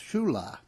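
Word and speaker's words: Ciulla: and sibilant say ye there were the two Shula brothers spelled CI ull a but pronounced Shula sicilian fishermen from Florence Street one was Frank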